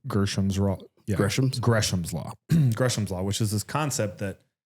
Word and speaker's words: Gresham's law: want to say Gams raw gam Gram's law gresham's law which is this concept that bad money pushes